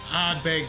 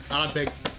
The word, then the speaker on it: Ardbeg: Ardbeg 10. Ardbeg 10. So I don't even, I can barely even pronounce it. It's only 2 syllables.